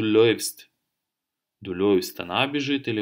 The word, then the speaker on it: läufst: А умляут и у читается как ой. Соответственно, ты бежишь, будет du läufst.